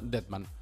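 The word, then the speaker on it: Dettmann: Sí, yo creo que es, si es en alemán, debe ser Dietmann. Dietmann. Porque vamos a ir un poco. D sería como Dietrich, como Marlene Dietrich. Pero digamos, tendríamos que consultar a alguien experto en pronunciación alemana. Pero de momento a mí me Marcel suena Dietmann.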